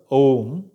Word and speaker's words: Om: Omkara, A, U, these principal syllables, they combine together, Om.